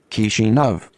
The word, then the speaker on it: Kishinev: Kishinev. Kishinev. And of course, that pronunciation can be heard on the stream.